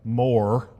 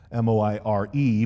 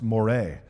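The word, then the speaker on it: moiré: The next concept I want you to understand is what's called a moire. Now I know that word looks like more, M-O-I-R-E, but it's actually pronounced moire.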